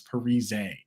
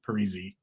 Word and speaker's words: Parise: let you guys know everyone's been saying my name wrong the entire time it's Parise and the entire world was like okay Parisi like I'm sorry dude